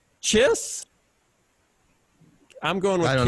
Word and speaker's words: Chis: Kiss? Chiss? I'm going with I don't Kiss. know. Is it a typo? No. Kiss. I checked it online. I Googled him, and it is Kiss Hodges.